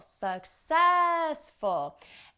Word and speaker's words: successful: the sounds and syllables pay attention to the stressed syllable successful and don't think about how it's spelled think about how it sounds suck cess full success you've got it you